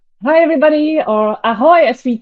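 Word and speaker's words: Ahoj: to hand over to L hi everybody or aoy as we say here in Chia uh pronounced correctly uh I'm working in the same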